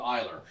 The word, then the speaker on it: Ehler: So we got If we said it wrong, we're sorry. Braden Eiler. EHLER. We're going with Eiler.